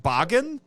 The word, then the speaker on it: Bagan: That's how I say it. I've also heard it pronounced Bagan. Bagan. Or yeah, there you go. But I say Bagan. That's what it looks like to me. That's what it looks like to this dirty, dirty American right now. That he's Bagan. Well, rhymes with Fagin.